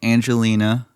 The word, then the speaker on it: Pangelinan: Um, so you take the name Angelina, and this is the pronunci This takes care of pronunciation and spelling. Okay. Um, Angelina, because everyone has heard that name before. You change the G in Angelina to a hard G instead of a soft G. So angelina.